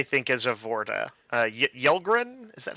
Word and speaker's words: Yelgrin: perfectly cast I think is a vorta uh yelgrin is that how you say it yes yeah